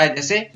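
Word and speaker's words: whose: WHO से अगर कोई शब्द शुरू हो रहा है WHO से तो उसमें W का उच्चारण नहीं होता है, जैसे हु, WHO हु है, अब यहाँ पर W का उच्चारण नहीं होता है और सीधा HO का उच्चारण हु।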